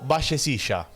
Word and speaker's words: Vallecilla: John Espinoza to Gustavo Vallecilla Rather bacilia I don't know how will you prolong it but well here it is pronounced vallecilla this boy is also